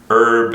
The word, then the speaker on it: Herb: And I know, so you pronounce herb as herb, right? Yes. Is that everyone or? Yes. Okay. All right. Well, moving right along. Herb's a good segue into what we're actually going to talk about today, which Indeed.